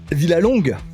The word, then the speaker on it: Villalongue: C'est pas Jean-Baptiste, Et le head manager, le big boss de Aerox France, Villalongue.